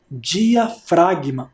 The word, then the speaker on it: diafragma: Aquela seta de baixo é o músculo, eu já falei na aula, é o músculo diafragma. Olha como se escreve diafragma. Diafragma, com o G mudo.